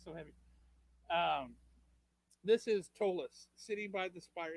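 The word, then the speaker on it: Ptolus: heavy um this is tolas sitting by the spire it's not patolous it's the p is silent it's it's like pterodactyl um anyway this is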